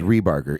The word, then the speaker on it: Rebarger: In my mnemonic device that I developed is rebar, like the construction thing. rebar and then gur like a bear. That's Yeah. that's how I tell people how to pronounce it.